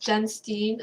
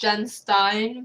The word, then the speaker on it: Jenstine: My full name is, so it's pronounced Jenstine. I know a lot of people think it's Jenstine, but that is why it's called Jenstine.